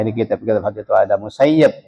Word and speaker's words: Ibn al-Musayyib: Perhatikan Musayyib, jangan baca Musayyab. Walaupun di harokatnya di kitab-kitab hadis itu ada Musayyib bacanya, itu kata Syekhuna Ismail Yamani, la taqra'u Ibn al-Musayyib walakin iqra'u Ibn al-Musayyib.